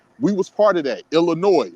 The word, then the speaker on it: Illinois: We was part of that Illinois which is why the S is silent because the French pronounced all of their words with the S silent in in in their language.